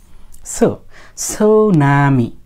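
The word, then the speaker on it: tsunami: ওরা করে না সুনামি এস এর পূর্বে টি থাকলে সেই টি এর উচ্চারণ হয় না সাধারণত আচ্ছা যাই হোক এবার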